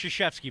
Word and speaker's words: Krzyzewski: And my buddy, just to be a smart-ass, Coach K is walking by, which it's pronounced Krzyzewski, by the way, if you don't know.